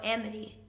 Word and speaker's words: Amity: I think Emite is the right pronunciation. They are the people, because you are a green activist, aren't you? Oh, Amity. Amity, yes.